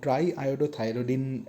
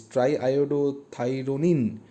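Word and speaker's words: triiodothyronine: production of thyroxine and try iodo thyrodine uh sorry i pronounced the name wrong is triodo thyronine uh this particular like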